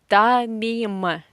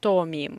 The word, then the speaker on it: томим: Тамим. Тамим. Again, or this poor or is very frequently without stress, and we pronounce this poor or as a. Тамим, not томим, yeah?